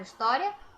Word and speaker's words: história: Olha, vamos ler aqui a palavra história. História. Pronunciei como se a escrita fosse só com I, ó.